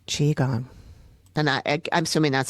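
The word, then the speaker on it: qigong: I can't remember how that's pronounced. I want to say it was qui jang, but that's not how it's spelled. Anyway, it'll serve as an emotional release. This is Amy from the future. I do know now that it is pronounced chiong.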